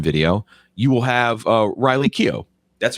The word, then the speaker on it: Keough: way amazon prime video you will have uh riley keogh that's right who is granddaughter is that how do you say elvis yeah riley keough ah that's how you said it she looks